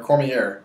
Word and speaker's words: Cormier: Cormier or Cormier?